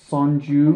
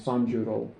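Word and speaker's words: 三十: If you want to say like 30 you would there's not a word for 30. It's 310. So it be it' be sanju. Mhm.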